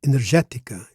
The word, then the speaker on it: energética: The next word is energetica. Energetica. Now, energetica, the accent is on the third syllable from last.